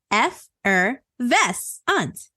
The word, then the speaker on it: effervescent: f RV e s c e n t pronounced F VES a it is an adjective defined as sparkling Lively